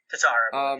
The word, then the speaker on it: Tatar: Well, if you look on Daily Faceoff, Tatar, that's how you say it? Tatar, yes.